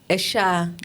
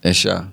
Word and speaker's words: Esha: So, tell us about your name and how it's pronounced. Esha. Esha.